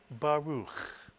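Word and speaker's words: ברוך: Can you read the first syllable? Ba is correct, mitsuyan. It's simply the bet with the kamats. You wouldn't add the resh because the resh does not have a silent shva under it. So the first syllable is simply ba. And the second syllable, ruch, mitsuyan, ruch. And you put the word together, you get baruch, mitsuyan.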